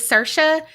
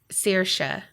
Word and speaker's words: Saoirse: Okay, I was so confident that it was Saoirse, but then she said it's pronounced Saoirse. I suck.